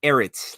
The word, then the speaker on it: Ehret: Uh, you're close. You're Erit, like a Eric instead of the Yeah.